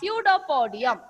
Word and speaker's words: pseudopodium: that is known as pseudopodium. What is that? Pseudopodium. Pseudopodium, and the plural is pseudopodia. Okay. So even like esophagus, here P is silent, but when you write, you should write the correct spelling.